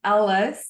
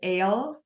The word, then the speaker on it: Ahles: So it looks more like Ahles, but she just let me know that it's Ahles, pronounced like Alice in Wonderland.